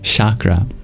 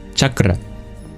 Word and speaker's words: chakra: not words like yoga words like Shakra or correctly pronounced as chakra words like Guru words